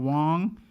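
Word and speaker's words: Wonge: Once again, I go by the name of Wong. That's spelled W-O-N-G-E.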